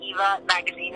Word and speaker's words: Eva Magazine: So I think like a magazine, it's Eva Magazine, and it rhymes.